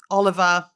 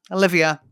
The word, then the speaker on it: Olivia: Stephanov, Noel Bouer, Oliv Oliver. Olivia, your name's Olivia. It's not Oliver.